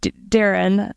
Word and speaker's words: Doireann: Saoirse and names like my name, Doireann, like in Ireland, it's pronounced Darren.